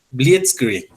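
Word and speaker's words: Blitzkrieg: inmovilizar a los enemigos blit Creek blit Creek algo así se se pronuncia en alemán la Guerra Relámpago y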